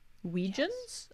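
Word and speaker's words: Weejuns: who says I bought penny loafers recently too weijian so comfy I don't if that's the brand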